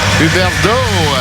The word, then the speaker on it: Huberdeau: Byron, if I believe correctly, from Ottawa, nation's capital, and Huberdeau, of course, from the Quebec League. You want to get a little feistiness. Huberdeau, as it would be pronounced in French, been sitting on the